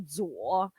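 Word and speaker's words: 左: So that's General Tso or Tao or whatever you want to pronounce it. It's actually Zuo, which means left.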